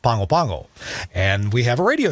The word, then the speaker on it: Pago Pago: the capital city there it looks like it's spelled pago pago but in samoan it's pronounced pangopango and we have a